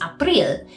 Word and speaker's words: April: Then we have April, which is April. It's spelled the same, but you just pronounce it the way a German would pronounce it.